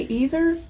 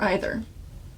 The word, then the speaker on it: either: So, do you say either or either?